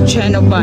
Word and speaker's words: Genova: Ito na talaga yung Geneva. Geneva whatever. It's pronounced as Genova in Italy.